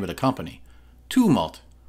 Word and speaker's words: Tumult: Tumult. It's a too sound, I checked.